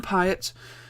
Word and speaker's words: Pyatt: Right, this is Ian Pyatt. Rhymes with diet. Yeah. Ian Pyatt.